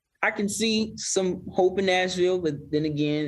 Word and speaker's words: Nashville: himas this is Nash it's not supposed to be two syllables this is Nashville can run it together Nashville this is Nashville be